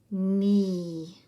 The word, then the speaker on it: knee: Knee. This is vowel digraph EE, as in sheep.